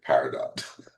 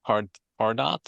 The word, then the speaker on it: Pardot: Actually, you said Paradot. Yeah, that it's pronounced Pardot, or that's what most people pronounce it, Pardot, yeah. or Mm. or Pardot, Yeah. because it's French, really.